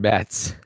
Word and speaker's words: Matz: That would be a good first name, Mats. Mats, like the Swedish Mats, but they spelled with a Z.